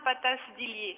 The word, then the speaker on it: Patas-Dillier: Mon nom se prononce bien Patas-Dillier.